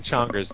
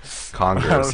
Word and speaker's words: Chongers: Also, somebody in chat wanted to tell you that you were pronouncing Chonger's name wrong. It's Chongers. Chongers? Chongers. Chongers. With like a chicken. Like chicken. Does Chongers taste like chicken? Congers.